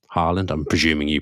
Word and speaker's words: Haaland: Yeah, probably, but the correct pronunciation is Haaland.